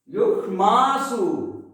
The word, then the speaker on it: युष्मासु: देखिए आप इसके उच्चारण में यहां दोनों सा आ गया है, मूर्धा सा और दंत सा भी। यहां बोल क्या बोलेंगे, युष्मासु। क्लियर, युष्मासु। यहां सु लघु है, ये भी ध्यान रखेंगे, सा में ऊ है, ठीक।